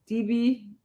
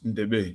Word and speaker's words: Ndebe: our viewers welcome Mr DB I hope I'm pronouncing your name right and it sounds like the end is silent no thank you my name is ndebe thank you Mr